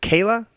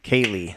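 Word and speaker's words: Kayleigh: and she kicks ass Kate is it Kayla Kaylee Kaylee that's how you say it she's Southern Kaylee mcinerney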